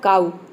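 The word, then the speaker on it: cow: एक होता है वर्ड काउ सीओ डब् आपको पता होगा काउ जिसका मतलब होता है गाय सीओ ड तो इसमें भी देखिए ओड को हम क्या प्रोनाउंस कर रहे हैं आउ प्रोनाउंस कर रहे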